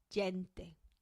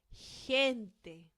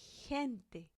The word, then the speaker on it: gente: So if you look at these words, I know you might feel tempted to read them like this. Gente, gimnasio, but we don't do that. We have to pronounce them like this. Gente, gimnasio. You see? Gente, gimnasio. So G-E and G-I sound.